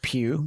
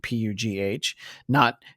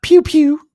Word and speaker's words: Pugh: The artist on this series, his name is Steve Pugh, Pugh, not Pew Pew, but Or Florence Pugh. like Florence Pugh, though it's spelled like that.